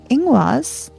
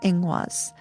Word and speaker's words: Ingwaz: Ingwaz, i n g w a z, is the seed held in sacred gestation.